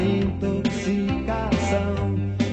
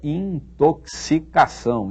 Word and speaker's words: intoxicação: Depois era um vício, uma intoxicação, me corroendo as veias, me arrasando pelo chão, mas sempre tinha a cama pronta, pegando no fogão.